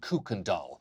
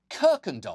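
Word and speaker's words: Kuykendall: him bragging about being a descendant of Abraham candal not only does that last name sound like the Swedish translation for Bratz dolls for the record Abraham kirken do which is how it's actually pronounced was one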